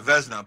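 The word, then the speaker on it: Vezina: a vzna candidate did I say it right vzna yeah vzna but his numbers won't put him there but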